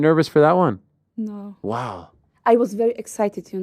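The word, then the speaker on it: Łódź: l o DZ yeah that's pronounced wo yes wow the L is a W uh yes wow are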